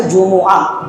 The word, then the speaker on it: جمعہ: کا نام پڑ گیا۔ اصل میں یہ لفظ جس کا تلفظ ہم غلط کرتے ہیں، کوئی کہتا ہے جمعہ، کوئی کہتا ہے جمعہ، کوئی کہتا ہے جمعہ، اصل نام اس کا ہے جمعہ، جن کے اوپر بھی پیش، میم کے اوپر بھی پیش، عین اور آخر میں ہاں۔ اذا نودی للصلاۃ من